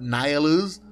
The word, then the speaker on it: Nihilus: Tengo entendido que su nombre se pronuncia correctamente como Darth Nihilus, pero sería bastante complicado llamarlo así el resto del video, así que continuaré llamándolo simplemente Nihilus.